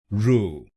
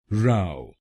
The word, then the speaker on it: row: This word has two pronunciations. If you use this word as a noun, it has two pronunciations. As a noun, its first pronunciation is "ru.